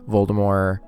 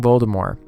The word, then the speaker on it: Voldemort: popped in was like oh actually the t is silent i'm like where when who and why why is the tv did the t silent in voldemort excuse me ma'am so